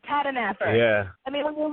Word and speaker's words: Tahdooahnippah: That's Comanche Boy George Tahdooahnippah. See, it's easier than what it looks like, Tahdooahnippah.